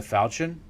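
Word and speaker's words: falchion: Falian or Fian foul. Chu and Chun pronounced like churn. name pronunciation as in a knife or sword of European origin. Falen. Yes, the ch here is pron falen. It's pronounced falian apparently.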